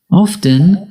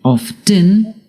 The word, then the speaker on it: often: Often can be pronounced two ways, by pronouncing the T, often, or by not pronouncing the T, often.